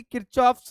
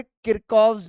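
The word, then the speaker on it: Kirchhoff: किरचॉफ्स लॉ ऐसा बोलते हैं हम, किरचॉफ्स लॉ। बट एक्चुअल में जो इसकी प्रोनाउंसिएशन है ना, वो है किरकॉव्स लॉ।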